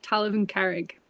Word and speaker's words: Talamh An Carraig: sure yeah it's um land of the rock talivan carrick thank you telephone carrick the minute you say